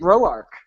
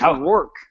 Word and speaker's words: Roark: so well lately, and he actually pronounced it Roark instead of Rourke.